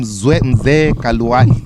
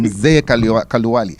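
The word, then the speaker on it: Mzee Kaluyu: Being Mzee Kaluwali, that's the correct pronunciation, Mzee Kaluwali, meaning that you have a responsibility.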